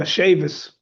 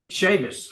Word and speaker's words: Chavez: Yes, sir. Shavis. Shavas. Okay. Thank you, Shavas.